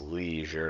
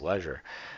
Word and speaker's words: leisure: not an extra e we pronounce e i as e e that's why it's leisure to us uh it doesn't need